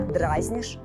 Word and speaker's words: дразнить: Ударение на «и» актуально только для форм «дразнить», «дразниться», «дразню». А в других лицах и числах и норма другая. «Ты меня дразнишь», «запахи из кухни дразнят аппетит», «мальчик дразнит собаку».